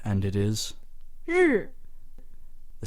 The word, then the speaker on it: 日: Some people read this as, ri. 日 R is correct. Or other people know what R sounds like, but they get the vowel wrong, and they'll say r. 日 R.